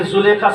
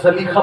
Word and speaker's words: زلیخا: اس لیے کہ زلیخا سب کہتے ہیں لیکن علماء اس کا صحیح تلفظ زلیخا بتاتے ہیں.